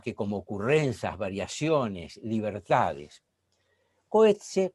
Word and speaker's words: Coetzee: Coetzee, o Coetzee, como se debe pronunciar, pero a mí me cuesta incorporar esta expresión, es más simple.